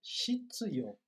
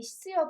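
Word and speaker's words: 必要: Eu também sempre pensei Hitsuyo, porque parece que a língua deles trava na hora de falar o Hitsuyo. Né? Mas a tradução correta, ou melhor, a pronúncia correta é hitsuyo, não é shitsuyo.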